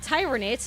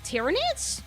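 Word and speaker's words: Tyranids: Not tyrannidates. It's tyrannid. Ter can continue.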